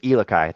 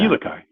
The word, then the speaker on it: Elikai: So, and it does say handcrafted on there, and also it's they corrected my pronunciation as Elikai. Thank you for that. Elikai.